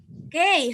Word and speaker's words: gei: GEI kira-kira seperti apa bacanya? K, 很好. K, jadi G berubah jadi K.